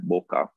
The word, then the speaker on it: bokeh: known in photography as bokeh i've also heard it being pronounced and always like boca so i guess the pronunciation is up to you but once you know